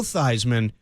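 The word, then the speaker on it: Theismann: I know it's Joe Thyman but his his birth name is Joe Thesman. He changed it to Thyman to rhyme with Heisman.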